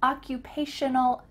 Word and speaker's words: occupational: I'm an occupational, make sure that you use shun in the middle of that word, occupational therapist, or I'm a physical therapist.